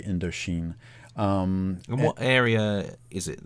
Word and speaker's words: Indochine: It's just the French pronunciation of French Indochina. So the French would say Indochine.